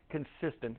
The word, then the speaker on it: consistent: spell it right consistent the weird thing is at the end it looks like it should be TI NT but it's t n like you're sleeping in a tent so it's consistent so